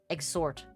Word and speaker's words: exhort: Exorting, sorry, exorting. E X H O R T. Exort. Very fun word. I no, not exorcism, but it's spelled somewhat similarly.